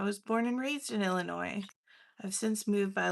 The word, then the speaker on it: Illinois: was very big on pronouncing Illinois without the S.